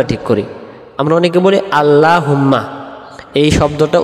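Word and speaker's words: اللهم: আমরা অনেকে বলি আল্লাহুম্মা, এই শব্দটা উচ্চারণ সহি হবে আল্লাহুম্মা, হুম্মা মিমে তাহসিদ গুণনা হবে, আর আল্লাহ শব্দের ডান দিকে জবর থাকলে উচ্চারণ হবে লামটা ল বলে।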